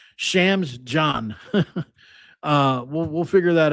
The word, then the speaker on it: Chams Diagne: Obviously you know, Damon Allen, Rae'Shawn Reynolds, and Chams Diagne or Diagna. I wish I'm going to try figure out how he's that's pronounced by the next time I say it.